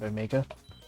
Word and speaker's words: omega: Like Beta, most sort of British people will say Beta instead of Beta, and Omega instead of Omega.